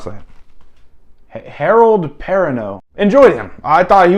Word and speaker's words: Perrineau: Harold, how do you pronounce that? Harold Perrineau.